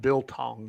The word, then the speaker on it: biltong: for a good biltong. Is that how you pronounce that, biltong?